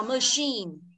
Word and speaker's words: machine: tắc là nhấn một mà nó nhấn hai, nó đọc là machine, thế không?